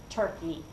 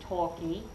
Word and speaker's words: turkey: So, you say turkey and bird. Where's your tongue? Turkey, bird. Yeah, it's right behind your incisors, your flat teeth, almost touching the roof of your mouth.